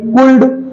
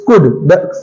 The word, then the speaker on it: could: Okay, next हमारा COULD, कुल्ड। नो, इट्स नॉट कुल्ड, इट्स कुड, COULD, कुड। Similar word है WOULD, इट्स नॉट ओल्ड, इट्स वुड।